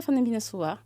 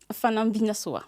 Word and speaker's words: Fanambinasoa: Alors, je suis Fanambinasoa. Attends, tu as prononcé très vite. Fanambinasoa. Fanambia.